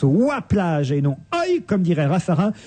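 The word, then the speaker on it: Oye-Plage: ville de W enfin j'ai dit bêtement œil plage il fallait dire W plage cette plage du pas de calèche je crois se dit W plage comment ça s'écrit et ben ça s'écrit o y e alors moi je disais évidemment bêtement et on dit W plage non c'est comme loi vous savez que c'est ancien orthographe de loi le jeu de loi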